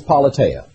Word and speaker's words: politeia: Believe me, the Greek word is politeia, P-O-L-I-T-E-A in the English language, the way we might pronounce it in Greek.